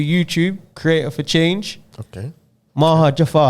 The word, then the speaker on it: Maha Jafar: you let me know how it should be pronounced you know correctly for them it's mahajafar oh okay i tried